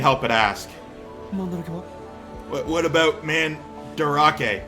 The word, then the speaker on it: Mandarake: What about Mandarake? I thought it was Mandrake, and I'm like, yes, a real word.